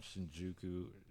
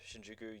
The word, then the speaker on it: Shinjuku: went over there and just hang out in Shinjjuku. Am I said it right? That's Shinjuku.